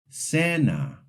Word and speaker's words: cena: The soft C sounds like the English S before E and I. For example, cena, cine.